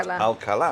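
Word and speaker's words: Alcalá: There's a little tick on the A, and it's actually pronounced Alcala. Alcala.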